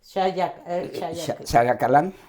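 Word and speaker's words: Xayakalan: Tenemos también este Ostula, ostula, eh eh el triunfo que que tuvieron que tuvieron sobre me cuesta pronunciarlo en las comunidades, ¿cómo es? Shayacalán.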